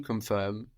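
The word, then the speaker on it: confirmer: of this asan and we add e and this is pronounced a so we get confir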